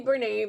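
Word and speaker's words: Bernat: Now, I say Bernay because that is how the company pronounces it, because it is a French word.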